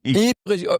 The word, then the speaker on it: Ypres: Ypres, was it? Ypres will work as well, because the Flemish have their own pronunciation.